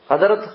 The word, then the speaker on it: Khidr: ஹிரு ஹிர் முஹம்மது முஹம்மது ஹிதிர் என்பதாக ஹிதிர் என்று சொன்னால் ஹிதிர் என்றும் சொல்லலாம் ஹதிர் என்றும் சொல்லலாம். இந்த ரெண்டிலையும் ஹதிர் என்று சொல்வதுதான் சகல சகல சிறந்தது ஏற்றமானது.